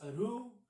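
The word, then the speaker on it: أحرف: It's pronounced as Aru or Ahruf, whatever they want to pronounce it as. Doesn't make a difference.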